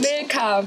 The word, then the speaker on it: Milka: How do you pronounce it? It's Milka.